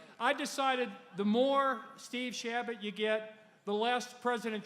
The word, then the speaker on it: Chabot: He's a true fighter for the state, Congressman Steve Chabot. Great guy. Come up, Steve. Come up, Steve. You pronounced it right.